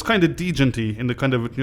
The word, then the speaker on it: Djent: No one likes a silent D.